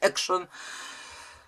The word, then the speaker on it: Action: na epsona kto woli Zwrócono mi uwagę że się wymawia Action jesteśmy w Polsce wolę mówić akcją Zresztą bycie Action Action